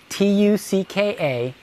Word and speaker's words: tucka: T-U-C-K-A, ticka. Okay, and we're going to say tucka on the suck. Suck isn't a very polite word, but it rhymes with tucka.